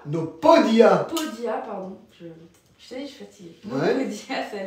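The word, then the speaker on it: podía: très bien je bien je sais pas pourquoi tu as prononcé Bodia j'écris mal mais ça c'est un P quand même c'est le d après qui m' mais B ils sont ils sont différents ça c'est un B vois ça c'est un P fait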